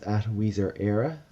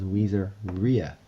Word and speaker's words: WeezerEra: Okay, you may know me as @WeezerEra from Twitter, and you guys tend to pronounce it as Weezer-Ria. So it's actually Weezer-Era.